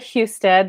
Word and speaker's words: Housted: business manager yeah so I'm housted that's how you pronounce my last name I blame my husband